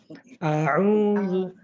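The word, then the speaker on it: أعوذ: jadi memang dibuka sedikit lebih dibuka lagi A. A'udzu, a'udzu.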